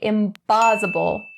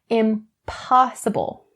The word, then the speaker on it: impossible: Don't change the p in impossible to the b. Don't say impossible. That is not correct. Impossible.